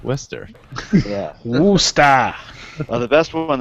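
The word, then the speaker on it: Worcester: to pronounce it correctly not Worchester Wester yeah wer the best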